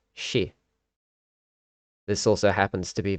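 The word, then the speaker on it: 四: You see, the word for four in Japanese is often pronounced shi. This also happens to be the same way that a Japanese pronounce the word for death.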